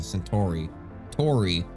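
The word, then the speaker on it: Centauri: manufacturing protocols andiz tests so they pronounce it proximate sori Tori not t Tori you know I I I I have heard that before that people like I heard that was a thing before that that's how you actually pronounce it Proxima centor Tori not tari because it's just our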